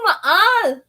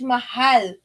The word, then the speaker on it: mahal: No, maal. You gotta use the H. Mahal.